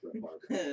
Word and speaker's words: Brett Favre: He was the definition of a gunslinger, and everybody knows Brett Favre. Yeah, everybody knows Brett Favre. Brett Favre. Brett Favre. Brett Favre. It's actually pronounced Brett Favre.